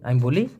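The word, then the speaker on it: ambil: আমবিল মানে নেওয়া দেখুন আমি বলি আম বিল এই এখানে আবার বাংলা দিয়ে দিলাম কেন আমবিল উচ্চারণটা হবে আম বিল এই আমবিল মানে নেওয়া আর ঘ্রাণকে সাধারণত বলা হয় বাউ।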